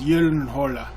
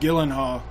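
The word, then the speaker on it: Gyllenhaal: his last name and he said the true pronunciation is y hola I thought that was awesome sounding that's the coolest sounding last name but everybody calls him Jake Gillen HHA just because that's how it looks when it's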